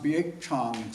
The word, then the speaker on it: Baek Jang: And it's pronounced Bak Chong Fox.